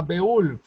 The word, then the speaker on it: Beowulf: hay una historia que se llama beul se escribe beowulf y es una historia